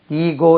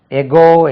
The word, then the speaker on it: ego: அப்போ முன்னால ஈகோக்கு ஃபர்ஸ்ட் உச்சரிப்பு ஈகோ, எகோ என்ற உச்சரிப்பு. எகோ, எகோ first preference. ரெண்டாவது தான் ஈகோ. ஈகோ ரெண்டுமே உச்சரிக்கலாம். எகோ, you should not have that much எகோ, இப்படி ஒரு உச்சரிப்பு இருக்கு. தான் ஃபர்ஸ்ட் ப்ரிஃபரன்ஸ். செகண்ட் தான் ஈகோ.